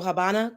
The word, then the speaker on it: Habana: and the ASI so Habana Cuba the V is silent which is a b I'm sorry the V makes the B sound so Habana Cuba so